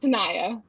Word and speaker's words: Tanaya: check that out brandon my first name though is pronounced tanaya oh that's pretty oh